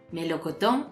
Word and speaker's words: melocotón: en la lección anterior entonces melocotón es una palabra aguda árboles ya no xilófono